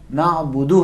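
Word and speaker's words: نَعْبُدُ: क्योंकि या काम में अलिफ मद्दी नहीं है, इयाका में अलिफ मदी नहीं है, नाबुदू में वाव नहीं। नाबुदू है, ठीक है।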